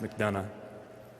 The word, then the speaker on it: McDonough: c capital d o n o o it's pronounced mcdonough well not to be taking any further questions